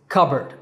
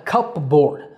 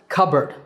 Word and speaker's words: cupboard: this is not a cup board I know it's spelled like that but it's pronounced cupboard cupboard cupboard if you're